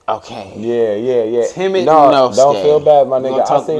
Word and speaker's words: Temet Nosce: How do you pronounce it? It's Temet Nosce. Okay. Yeah. Temet Nosce.